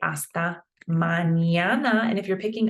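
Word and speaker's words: hasta: fine huh and then we also not pronounce this h just like when you say hola you're not pronouncing the h right please we got we got gracas these are pretty standard Um, you're welcome.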